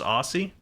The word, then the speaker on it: Aussie: I mispronounced Aussie by saying Aussie instead of Aussie.